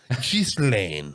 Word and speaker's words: Ghislaine: giz I think I thought it was gizan maybe is gain let's just let's just verify I just had the dude the dude who's like he sounds legit he's like this is how we pronounce just Lane yeah I'm GNA go